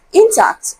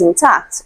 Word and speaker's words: intact: Okay, so I know that many of us may be used to pronouncing option B as intact. Okay, so it is intact.